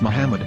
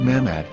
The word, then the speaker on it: Muhammad: vowels, it can be read as Muhammad, which is the name of the Muslim prophet, or as Mamad with no A after the H. According to Ben Yehuda's Hebrew English Dictionary, it is correctly pronounced as Muhammad, not Mamad.